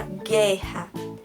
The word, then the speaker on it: guerra: Então, se eu tenho a palavra guerra, eu não falo o som de U.